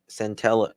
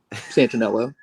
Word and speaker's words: Santanello: However, members of the organized search did not locate any evidence tied to Santello. How am I saying it wrong? Santanello.